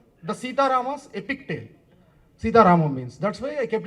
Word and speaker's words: Sita Ramam: Okay, why it is not Sita Ram? Why it is Sita Ramam? That's what you are asking, sir? Oh. Okay, okay. Sir, Ramayanam, how will pronounce, sir? In Ramayanam only, no? Ramayanam. Mahabharatam. You'll sound it like Bharatam. So whenever the ending of that defines like it's the story belongs to that.